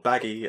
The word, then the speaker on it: Buggy: well yes yeah so so buggy or baggy as his name was originally supposed to be pronounced I think Oda just